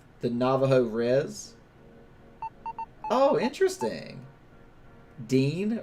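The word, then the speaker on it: Diné: navajo res oh interesting dean or deeney dine pronounced with a long e so diney danny denny okay found very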